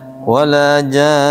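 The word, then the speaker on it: وَلَا جَانٌّ: Bacanya wala jan. Nunnya ditahan.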